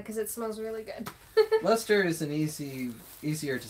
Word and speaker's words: Leicester: William Johnston's A Pronouncing and Spelling Dictionary, 1764, notes that the C is not pronounced in the words such as Leicester, Gloucestershire, Worcester? I think that's how I'm saying it, right? I don't know. Which makes them two syllable words.